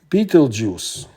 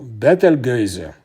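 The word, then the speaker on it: Betelgeuse: For example, the famous Beetlej juice pronounced in English or battle gazer in Russian when it explodes will become a supernova and it will be perfectly visible during the day.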